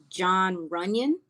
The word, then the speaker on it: John Runyon: I mean, you mentioned I looked all across their offensive line from start to finish, and the right guard is it John Runyon?